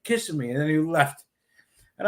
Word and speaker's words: Kissimmee: How do you pronounce that? Kissimmee.